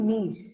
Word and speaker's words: niche: ஸோ ஜென்ரலா வந்து நீஷ் அப்படின்னா இதை ப்ரொனவுன்ஸ் பண்றது நிச் கிடையாது. இட் is actually நீஷ்.